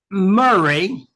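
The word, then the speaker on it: Moray: He was Murray. That's the way they pronounce it.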